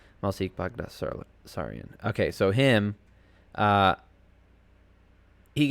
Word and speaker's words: Baghdasaryan: Baghdasaryan. That's how you pronounce it. Malsik Bagdasaryan.